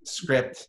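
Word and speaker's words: Scripped: Yeah, Script, spelled like Ripped, S-C-R-I-P-P-E-D.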